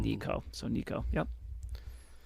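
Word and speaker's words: Neko: Nico Ne--Aetic pronunciation. Nico.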